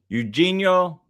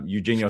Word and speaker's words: Eugenio: Eugeno Eug Eugenho. That's how you say it, right? Eugeno Suarez. Eugenio Suarez.